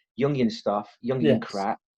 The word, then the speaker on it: Jungian: It's German, so the J's pronounced with a Y. Jungian stuff, Jungian crap, right?